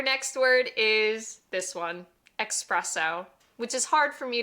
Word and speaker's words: espresso: Remember, there's no X in the Italian alphabet, so instead of espresso, it's really espresso.